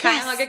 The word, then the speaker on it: Cuyahoga: Cuyahoga, yes, right? You did. Yes, Cuyahoga County Animal Shelter.